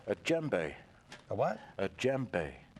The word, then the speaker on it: djembe: a djembe. A what? A djembe. It's spelled spell funny it?